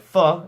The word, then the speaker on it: pho: too much our next craving are things like thaw and ramen thought spelt pho it's not pronounced foe is it delicious Vietnamese soup similar to ramen